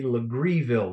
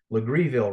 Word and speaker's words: Legareville: Island you follow to the left you'll see legreeville looks like legareville it's pronounced with greedy legreeville right across the Stone Oak River from the